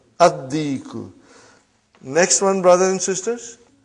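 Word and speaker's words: الديك: Ad-diku. Why? You did not pronounce lam because it is sun letter. Ad-diku.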